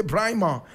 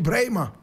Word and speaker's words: Braimah: Joseph Adam brma brma is spelled b r a i m a h some people say brma correct pronunciation Brer Joseph Adam Brer was born my brother my